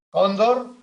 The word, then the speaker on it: cóndor: En el caso de las llanas, cóndor, ¿por qué lleva tilde? Primero, porque el golpe de voz cae en la penúltima.